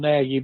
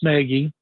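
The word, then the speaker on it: Nagy: I keep hearing as one of the guys, Matt Negi, uh, spelled Naggie, but pronounced Negi, uh, back with Kansas City that Beansi was there forever that he's a candidate.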